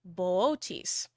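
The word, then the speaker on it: Boötes: And we also have the constellation Boötis. And yes, that is how it's pronounced.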